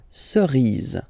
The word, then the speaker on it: cerise: Remember, final E not pronounced, cerise, une cerise.